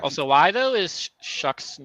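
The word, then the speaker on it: Shough: Like also why though is Shuck's name pronounced Shuck whenever it's spelled like that. What language does that come from? What Tyler Shock?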